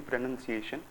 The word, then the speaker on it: pronunciation: pronunciation is going wrong pronunciation is the Mis most Mis pronouned word in the anti it's actually pronunciation if you want to